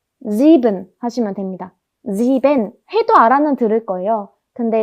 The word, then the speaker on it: sieben: 발음을 n이 아니고 은 이렇게 끝을 흐리면서 발음하는 편입니다. 그래서 sieben 하시면 됩니다. sieben 해도 알아는 들을 거예요.